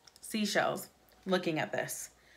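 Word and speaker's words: Seychelles: I save as seashells seashells okay get it like the shells by the sea but they spell it sey CH e ll es and so I literally can't say seashells looking at this say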